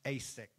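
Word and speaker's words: Esek: So he called the name of the well, it's pronounced Asix, because they quarreled with him.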